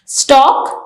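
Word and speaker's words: stalk: a plant यानी तना स्टॉक स्टॉक में एल हमारे पास साइलेंट है द मेन स्टेम ऑफ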